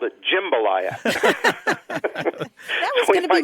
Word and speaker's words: jambalaya: Well, the thing is, there are people who say it like you say it, but you're vastly outnumbered, and the people who are in the food business that I know and all of the major dictionaries of English, the ones that I think matter for U.S. pronunciation, all record jambalaya as the standard pronunciation.